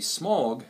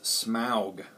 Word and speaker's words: Smaug: smaug which uh some people want to say smog and i would think it would be pronounced that way too but it is smog um you know the first film you know